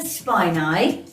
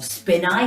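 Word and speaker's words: spinae: we're using is the erector spine eye or spin eye how you pronounce it and also the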